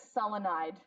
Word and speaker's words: selenide: hydrogen becomes, okay, so just 2 syllables, take that first syllable, add "ide." The only one that doesn't do it is selenium, but you're hardly ever going to come across that. Selenium is selenide, okay?